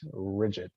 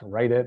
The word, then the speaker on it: Ridj-it: Ridj-it, not write it, not Ridj-it, but it's